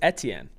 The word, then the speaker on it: Etienne: Like, I think he might pronounce it the way, like, the Creole version is, which is some sort of weird hybrid of, like, the two of them. So it's Etienne. Just looked it up.